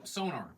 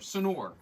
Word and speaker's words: Sonor: So it's made from by Sonar or Sonor as it's pronounced.